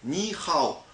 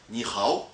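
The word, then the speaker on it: 你好: Ça se dit ni hao. Donc ça s'écrit comme ça, avec un H. Mais en fait, le H se prononce R. Donc on dit ni hao.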